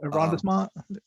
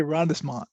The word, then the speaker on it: arrondissement: Arrondissement? I'm sorry? The arrondissement.